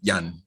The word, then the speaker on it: Ian: am i and he's ian but in russia they pronounce it yan you know they don't say ian as we say in jamaica and kasparov told me